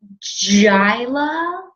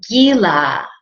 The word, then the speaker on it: GILA: first reaction when reading the card is Oh shyla life coaching no Sheila needs Jula right jhoola life coaching nope guy lots gotta be Kyla do you know so it's actually pronounced Gila ye la life coaching and there's two meanings